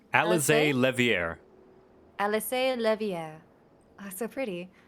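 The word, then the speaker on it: Alisaie Leveilleur: of propriety how did you say her name alize levier alice levier oh so pretty i thank you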